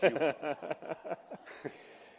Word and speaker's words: Fuqua: They taught us on the first day that the way that you say fuqua is that few qualify. So it's fuqua. Because if you're not careful, you could get yourself in a little trouble.